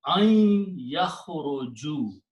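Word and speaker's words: أن يخرجوا: ya, when you pronounce, this noon becomes noon gunna. It pronounced ain yakhruju. So there's a little shadda there to pronounce the noon as a gunna because of this ya. So the recitation becomes ain yakhruju.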